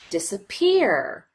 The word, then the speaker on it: disappear: disappear but because we don't spend quite as much time on the D disappear it we categorize that as secondary stress and if you notice this middle syllable we just rush through as quickly as we can disappear we get right to that third syllable that receives the primary stress the third level of